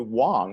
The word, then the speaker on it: Wang: Hey, I'm actually Wong. Everyone pronounces it Wang.